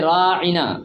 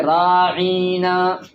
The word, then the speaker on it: راعنا: پاک نے فرمایا وراعنا، راعنا اصل لفظ ہے راعنا، اس کو پڑھتے تھے راعینا، راعینا اس کا معنی اور ہے، تو راعنا کا معنی